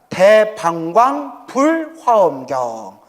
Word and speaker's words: 대방광불화엄경: 그래서 대방광불 화경이 하죠 정확히 하면 대방광불화엄경 이게 정확한 이제 어 발음이에요 화경이 보살은 어떻게 닦아야